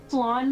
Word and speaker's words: Flawn: Flan like that Mexican dessert, like I think that's called flan. It is it is flan.